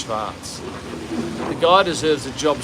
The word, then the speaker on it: schwarz: know what schwartz is schwartz is in german black and pronounced schwarz the guy deserves a